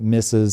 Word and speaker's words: Mises: So there was a guy named Ludwig von Mises. Some people pronounce it Mises, whatever.